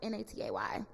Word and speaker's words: Naté: If you want to Google me, but my Instagram is, pronounced Natay.